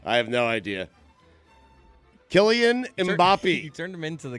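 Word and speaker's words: Mbappé: Am I pronouncing his name wrong? Yeah, absolutely. Mbappe. Sir. Mbappe. It's Mbappe. It's French.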